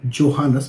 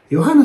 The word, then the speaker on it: Johannes: the Johannes so basically don't tell Johannes because it's not J in the pronunciation it is called yo so Johanna so you can uh